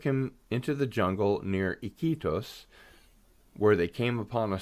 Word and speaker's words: Iquitos: Okay, I will take the next one here, which is near Iquitos, Peru. Iquitos? Iquitos. Iquitos, of Yeah, course. you That pronounce the sounds I.